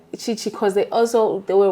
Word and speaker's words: Chichi: I like it as Chi-Chi and people like it like that.